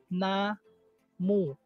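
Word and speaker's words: 나무: So ang first syllable is na, ang second syllable is mu. Na mu.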